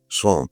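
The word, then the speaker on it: sans: And the last scene of all that ends this eventful history is then the French word s a ns. I think in French is pronounced song.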